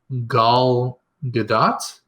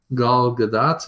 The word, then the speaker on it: Gal Gadot: Which apparently her name is actually pronounced Gal Gadot. Gal Gadot, like in Gal, I'm so her native sorry.